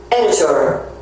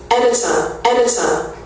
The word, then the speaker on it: editor: 미국식 editor. 영국식 editor. 영국식은 이제 R 발음이 없어진 editor.